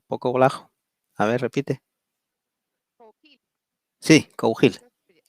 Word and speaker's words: Cougil: Cougil, Cougil, ¿ahí me sí, escuchas? ahí te oigo un poco bajo. A ver, repite. Cougil, Sí, Cougil.